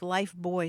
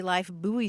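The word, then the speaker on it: Lifebuoy: boy rather than life it kept the British pronunciation even though we also have that product here in the United States yes that had puzzled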